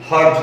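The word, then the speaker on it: hertz: HZ लिखा जाता है लेकिन इनका प्रोनाउंसिएशन हर्ट्ज होता है।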